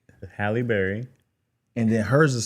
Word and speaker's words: Halle: I know it's not Holly Berry. It's Hie. Hi. Halle Berry.